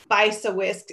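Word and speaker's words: Bysiewicz: lieutenant governor, Susan, and I always have trouble pronouncing her last name, but it's Bisawisk, unless one of our state leaders can correct my pronunciation.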